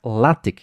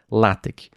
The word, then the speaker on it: LaTeX: E ele falou, inclusive, que se pronuncia LaTeX, não LaTeX, que é um processador de texto, né?